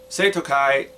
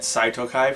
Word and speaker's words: Seitokai: I spent years pronouncing it Saitokai for some reason just because I didn't it was back before I learned how to pronounce the romanized versions of Japanese words.